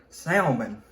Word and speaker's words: salmon: messing this up of having a letter in there that you don't pronunciate it goes along with